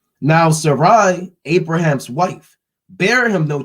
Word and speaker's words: Sarai: And Sarai, Abram's wife, Now, that's not Sarah, it says Sarai. I'm not pronouncing that wrong.